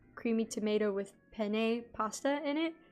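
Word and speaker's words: penne: I don't want to the correct way to say pen pasta is pen the e at the end of pen is actually silent wait no hold on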